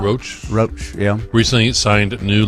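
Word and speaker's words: Rauch: Melissa Rach how do you say that Melissa roach roach Roach yeah recently signed new lucrative Deals they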